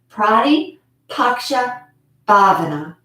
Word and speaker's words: Pratipaksha Bhavana: a good visual so you can um see it's spelled exactly how it sounds prati paksha bhavana and again it means to replace a negative